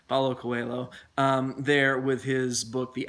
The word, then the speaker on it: Paulo Coelho: that's a fantastic book Pablo Quayle sorry I got the name wrong Paulo Coelho there with his book